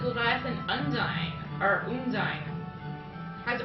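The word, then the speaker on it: Undine: there we go so so unin or unine I don't know I always said un but I can't tell as long as I can spell it unine okay u n d i n e u n d i n n e One n u n d i n e yeah like undying but yeah it's yeah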